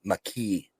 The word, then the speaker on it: Mekhi: Mekhi Wingo, Leonard Taylor, or Brandon Dorless. So apparently it's pronounced McKee. So we were all wrong.